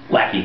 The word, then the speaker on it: Lackey: Okay, we are here with Lackey, I believe it's pronounced? Lackey.